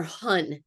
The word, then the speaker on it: hun: In Chinese medicine, we call it our hun. It's spelled HUN.